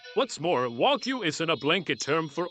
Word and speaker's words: Wagyu: For starters, it's pronounced Wagyu, not Wagyu, a fairly common mispronunciation. What's more, Wagyu isn't a blanket term for all Japanese cows.